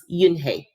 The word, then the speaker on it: Unhei: turned to joey she nodded slowly yes it's pronounced yunhei and it means grace mr kim added yoon